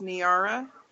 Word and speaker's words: Niara: there we go yeah my name is actually pronounced niara like a tiara only with an n on the front oh that makes so